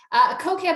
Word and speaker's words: Kokeb: Kokeb, over to you. Did I pronounce that correctly? And I apologize if I did not. You pronounced it perfectly.